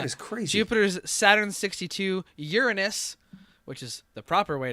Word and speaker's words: Uranus: that big yeah he's crazy Jupiter's Saturn 62 Uranus which is the proper way to pronounce it it's 27 excellent and also the